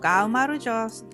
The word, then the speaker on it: Gaumarjos: I didn’t catch it clearly back then, but the Georgian word for “cheers” is Gaumarjos.